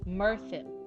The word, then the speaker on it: Mirthin: I have to keep It's pronounced roughly as mere thin with a soft like the th like in the mirin. Thin rhyming with worin or birthing merin. Mirthin like a mer like mercury followed by thin.